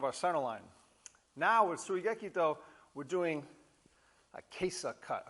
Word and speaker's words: Tsuigekito: Hello guys, Batto-Ho, number 3, Tsuigekito. Some folks pronounce it Tsuigekito, either one's fine.